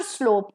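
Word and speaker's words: sole: हरसे अप the shear स्लोप ऑफ the mountain ठीक है the next a word pair is सोल okay same pronunciation एसओ एल सोल होता है पैर के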